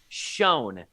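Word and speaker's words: Sjón: I made sure to double-check this pronunciation. Schoen is the co-writer of The Northman.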